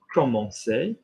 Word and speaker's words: commencer: So C is soft if followed by an I or an E, or if you've got your cedilla on it. Okay. So if I, for example, gave you this verb, commencer, okay, it's like an S, commencer. Okay.